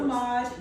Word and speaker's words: Semaj: Semaj.